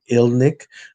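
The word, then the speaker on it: Irniq: of names so like there's the last name ilnic we spell it i r and iq but if you hear it said it sounds like there's an l um so a lot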